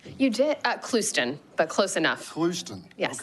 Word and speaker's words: Clouston: Did I pronounce that correctly? You did, Clouston, but close enough.